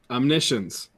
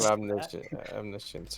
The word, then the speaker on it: omniscience: Omniscience. Sorry. Let me pronounce it the correct way. No, I don't have omniscience here. I don't want to. Omniscience. Omniscience. Science. It's more than just one science. It's omniscience.